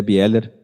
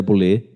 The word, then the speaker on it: Bieler: de Calvino, do André Bieler. Vocês já ouviram falar que a pronúncia certa seria André Boulé, mas do André Bieler,